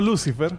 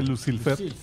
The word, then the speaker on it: Lucilfer: se llama crolo lucilfer crolo no Lucifer sino que lucilfer yo ni intento pronunciarlo